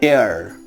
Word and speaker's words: heir: That means an is used before H when it is silent.